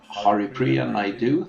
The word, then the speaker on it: Haripriya Naidu: It's SQL Friday number 146, and we have Haripriya Naidu. Did I pronounce that correctly? Yes, you're right.